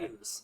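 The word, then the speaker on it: Meijer: no, you'd say it like a Myers. Midwestern would say.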